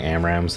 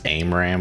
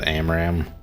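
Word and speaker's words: AMRAAM: I heard someone in a video the other day pronounce AMRAM as AIMRAM. It's like they confused AIM 120 with AMRAM, and they did it twice.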